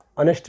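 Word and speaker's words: honest: एच रो हे Parsi ऑनेस्ट भी पारबा इनो ही पारबा आवर तो ई एच टा साइलेंट रहउचे ई एच टा पहला एच टा साइलेंट रहउचे देखो ऑनेस्ट रे हमर ई एच टा साइलेंट रहेला तो ऑनेस्ट हालांकि एडजेक्टिव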